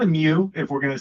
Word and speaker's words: mu: So, this technically isn't what they would call a mu chord is how they pronounce it, like a Greek mu letter.